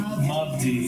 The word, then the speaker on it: Mubdi: Oh, Christopher Muddy. Mubdi, is it Mubdi? It's See, I V-D-I, yeah, M-U-B-D-I. Christopher Mubdi is what it is.